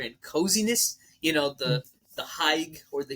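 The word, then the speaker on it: hygge: You know the Haig or the Hige culture. What I don't know But how to pronounce it, but it's Hyye. Mm-hmm. No, for real, it's Hyye.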